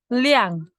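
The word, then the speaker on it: 二: En la lección 2 dice, ti arc, R es el número 2 en chino.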